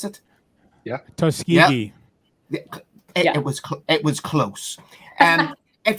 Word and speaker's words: Tuskegee: Booker, if you went to Booker, and I'm going to butcher this, is Tuskegee, is that how you pronounce it? Yeah. Tuskegee.